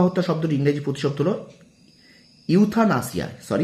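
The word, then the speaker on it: euthanasia: এটা শব্দ ইংরেজি শব্দ হলো ইথুয়ানাসিয়া। ইথুয়ানাসিয়া, ঠিক আছে, ইথুয়ানাসিয়া। ওকে, অর্থাৎ কৃপা হত্যা শব্দটির ইংরেজি প্রতিশব্দ হলো ইউথানাসিয়া। ইউথানাসিয়া, আমার উচ্চারণ প্রথমে ভুল হয়েছে।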